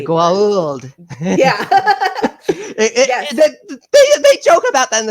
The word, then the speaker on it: Goa'uld: There are some people say Gould. There are people who say, then immediately correct, Goa'uld. It's a whole joke in the series itself about the pronunciation on that.